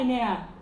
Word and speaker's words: Enea: Vocês já estão assistindo aqui na tela, que está o Cristiano Paixão, a Enea Stutz, que se pronuncia, Enea?